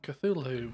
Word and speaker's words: Cthulhu: Cthulhu.